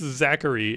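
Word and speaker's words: Zacharie: His name's like the Charlie, but it's pronounced Zachary, and it's ridiculous.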